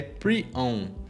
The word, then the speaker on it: prion: uma densidade absurda, ele para ensinar como se pronuncia o prion, que é prion.